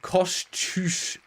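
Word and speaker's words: Kosciuszko: Uh, by the way, Wiki says a better pronunciation for that mountain would be Kosush. Yeah, maybe that is correct. Kushko Kushko.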